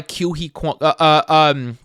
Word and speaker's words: Ke Huy Quan: But so it was presented by Ke Huy Quan.